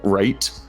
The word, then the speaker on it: reight: But they wrote right as like rate, like REIGHT, and they put the description as rate. Spell pronounced like the number 8 is a Sheffield slang to mean actually or like very much so.